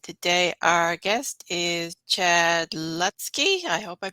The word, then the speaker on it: Lutzke: And today our guest is Chad Lutzke. I hope I pronounced that right.